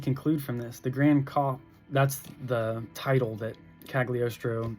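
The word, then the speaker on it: Copht: And he's called the Grand Cop. I think that's how you say it, the Grand Cop, or the Grand Cope.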